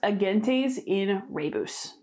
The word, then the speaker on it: Agentes in Rebus: And then this one is pronounced Agentes in Rebus.